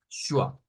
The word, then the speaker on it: schwa: Pero de ahí viene más o menos la idea, de que suena como una SH, pero con una C en medio, una W y una A. Schwa.